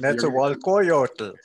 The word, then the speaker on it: Netzahualcoyotl: His first book was In the Palace of Netzahualcoyotl. Sorry, you're going to... Netzahualcoyotl.